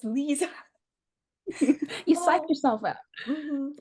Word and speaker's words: Leeza: I'm like, okay, I say her name like not Lisa, it's Leeza.